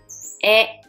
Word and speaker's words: へ: pronounce what okay next this sound is head when it shows up in words but if you see the letter as a particle the sound will be e this particle indicates the